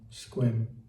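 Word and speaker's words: Sequim: Departure Kingston, Port Gamble, Hood Canal, Discovery Bay to Old Fort Thompson, Protection Island, Squallow, Squim Rhymes with Swim.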